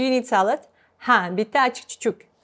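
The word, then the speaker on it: achchiq-chuchuk: Ha, bitta achichuk. So achichuk is written like this, but when we pronounce it, it's less.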